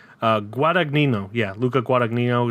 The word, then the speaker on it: Guadagnino: Then for the second movie of that day, I watched Bones and All, directed by Luca Guadagnino, I think is how you pronounce his last name. Guadagnino, yeah, Luca Guadagnino.